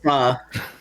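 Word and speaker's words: phở: It is pronounced pho.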